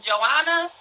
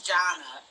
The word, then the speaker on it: Jonna: So Love After Lockup started with, how do you say her name? Joanna? Is that how you say? I've been saying Joanna, or Joanna, Jonna. Jonna? Yeah. It's Jonna.